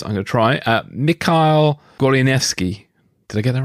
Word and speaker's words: Goleniewski: drew you to the story and forgive my pronunciation advance i'm gonna try uh mikhail gorlianeski did i get that right that's absolutely right